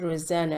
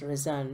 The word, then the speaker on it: Rozanne: so what are the correction is I said Rosanna at the beginning no it is not reserve resonates reason I think that's the waste pronounced reason not Rosanna and the other plants I could